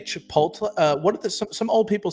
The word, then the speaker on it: Chipotle: Chipotle. They put the L before the T.